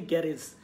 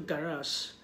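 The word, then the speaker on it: garage: এবং আমরা অনেকেই বলি গ্যারেজ, উচ্চারণটা হবে কিন্তু গ্যারাস, গ্যারাস।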